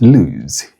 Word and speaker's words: lose: Lose spelled with double O pronounced with the voiceless fricatives.